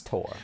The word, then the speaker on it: Tor: That's Thor. Okay. No, it's Tor.